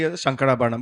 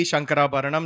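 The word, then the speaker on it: Shankarabharanam: We did a raga reel, which a lot of people enjoyed because in that purposely Shankara Bharnam. But that's how I used to speak as a child, Bhairavi.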